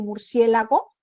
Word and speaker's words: murciélago: burros somos nosotros que la palabra original si era murciégalo pero por el modismo de que la gente se confundía y era más fácil pronunciar murciélago que murciégalo se adaptó la rae lo puso como murciélago no me digas tú sí